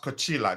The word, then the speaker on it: Coila: say my name correctly it's pronounced coila just like coach but the i l a makes a difference go well it's a